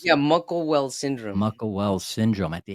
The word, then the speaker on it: Muckle-Wells: He was diagnosed with is that how you pronounce it? Muckle-Wells? Yeah, Muckle-Wells syndrome.